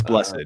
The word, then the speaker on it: Blessed: Yeah, and then there's Brian Blessed, or I don't know if his last name's pronounced Blessed. It's Blessed, yeah.